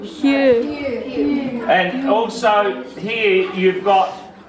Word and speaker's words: Hugh: You've also got the silent GH in this word. What's this word? It's a name, really. Name. Hugh.